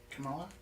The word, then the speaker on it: Kamala: So what I'm painting right now is how I'm envisioning, what if Camilla Harris was Mother Nature? Did I say her name right? Camilla? Kamala? Kamala. Yeah.